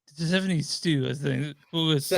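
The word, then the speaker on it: Hsu: Oh, it's Shoe. Shoe? Okay, cool. Yep, the All H right. is silent. It's just Shoe.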